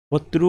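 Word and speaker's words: होतृ: होत्रु वाला होगा ऋग्वेद का या होत्री पढ़िए जो आप प्रोनाउंसिएशन कर सकते हो। ऋग्वेद का होत्री बोलेंगे या होत्रु बोलेंगे।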